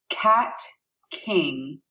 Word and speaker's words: Kat King: in my class can now play my name cat king see that I prefer Miz and she her